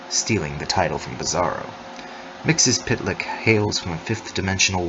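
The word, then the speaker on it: Mxyzptlk: mixes pidlick his consonant heavy surname is pronounced pitlik and he is Superman's weirdest enemy stealing the title from Bizarro mixes pitlick hails from a fifth dimensional world called zerf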